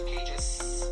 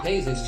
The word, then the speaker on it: pages: It's not 2 pages. Unvoiced voice Two L. paces. Two pages. Pages. Voice Z. Even though Pages. you spell the word like this, in American English, you pronounce the word like this.